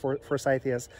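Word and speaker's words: forsythia: for force ideas they're named after a guy names Forsyth so I'm assuming they're pronounced first ideas so they label them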